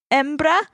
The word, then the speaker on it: hembra: Embra? Should I say the H at the beginning? I say spell it for me. Hembra. Yeah, I'd say embra.